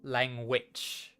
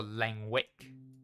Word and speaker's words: Langwich: Langwich. Like a sandwich witch. Or Langwick, depending on how you choose to pronounce it.